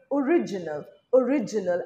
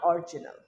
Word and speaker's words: original: সঠিক উচ্চারণ original and not original.